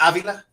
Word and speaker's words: Avila: call me uh most people can't say the last name right you say something right I say say it right it's close enough to me Big Dog we've known each other a while is it something different uh it's Avila Avila okay cool yeah yeah